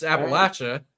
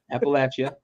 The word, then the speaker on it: Appalachia: because where appal Appalachia is that how it's pronounced I've always heard I heard Appalachia as someone who's from there it's Appalachia Appalachia all right you got me so I was